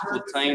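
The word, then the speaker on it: Cortém: Cortem, pronounced Cortain.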